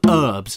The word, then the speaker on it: herbs: serious question for Americans why do you call them herbs why is there a silent H there what do you live